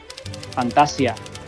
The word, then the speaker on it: Fantasía: Fantasia. Y con la tilde, con el acento en la A para hacer homenaje a la historia interminable.